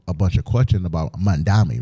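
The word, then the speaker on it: Mamdani: was asking them a bunch of questions about Mandami, right?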